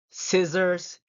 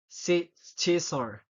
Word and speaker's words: scissors: scenar and scenario see I'm not pronouncing the the say word because if I pronounce it I it will be like mustle sissor Fascinate and scenario so it will sound weird you know right it